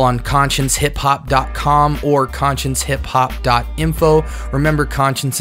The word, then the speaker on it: Conscience: Remember, Conscience is spelled C-O-N-S-C-I-E-N-C-E, like conscience. You wouldn't believe how many people think that it's conscious.